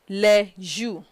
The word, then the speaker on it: les jours: Les jours de la semaine. You will observe that S at the end of le and S at the end of jour are never pronounced.